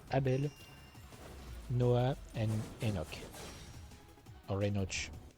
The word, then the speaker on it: Enoch: Or Enoch. How do you pronounce it in English? I'm pronouncing Enoch because a lot of the time I've seen the CH sound used as a K sound, I guess.